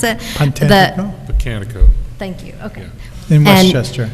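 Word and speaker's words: Pocantico: And just FYI, Dan, I attended an environmental thing at I always pronounce this wrong, Puncantico. Is that how you pronounce it? Puncantico? Botanico.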